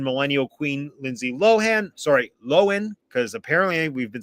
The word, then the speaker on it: Lohan: Sorry, Lohan. Because apparently we've been saying her name wrong this whole time.